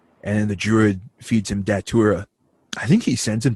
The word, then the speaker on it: Datura: uh tag is data underscore a d yeah datura okay that's how you pronounce it datura okay yeah so speaking of